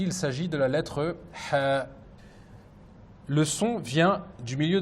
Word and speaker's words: ح: Pour essayer de bien prononcer cette lettre, il faut expirer de l'air sans faire vibrer ses cordes vocales, sauf au moment de prononcer les voyelles. Comme par exemple, si on met une fatha, on dira ha. Si on met une dhamma, on dira hu. Si on met une kasra, on dira hi.